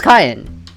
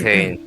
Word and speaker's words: Kane: eat lunch with us is it kayenne or Kane I pronounce it as kayen but it probably could be Kane it's prob Kane it's it's Kane all right it's Kane now yeah listen